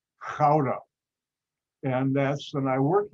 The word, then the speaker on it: Gouda: netherlands called gouda but good is how americans pronounce it it's not how the dutch pronounce it because i know hebrew